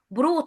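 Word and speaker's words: brought: كماسين بريوت سترونج الجي هنا اليو والجي والاتش ماتنطقوش بروت على طول بروت سترونج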